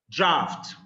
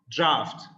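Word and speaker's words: draught: all of our Lives draft draft in this word the GH is pronounced F so draft draft is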